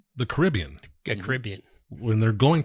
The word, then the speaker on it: Caribbean: me say it the right way the Carib Caribbean Caribbean not the Caribbean well we say Caribbean you